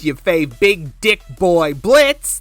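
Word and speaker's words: Blitzø: It's your fave big dick boy BLITZ, the O is silent, coming at ya.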